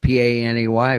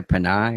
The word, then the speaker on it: Panay: How do you pronounce it? Panay Island? P-A-N-A-Y? Panay or Panay? Panay? For what? He said it's John Doe said it's the island of Panay. Panay?